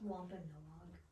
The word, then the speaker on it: Wampanoag: Is it pronounced Wampanoag?